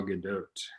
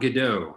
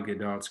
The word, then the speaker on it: Gadot: joss whedon and gal gadot so uh the story no not godot not good she pronounces the t i'm telling you i